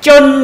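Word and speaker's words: 真: 그러면 참 진짜 이거는 중국 발음으로 쩐이라고 해요. 쩐 이래요. 그 다음에 쩐 해가지고 의미 조사를 하나 붙이면 쩐더마 이렇게 합니다.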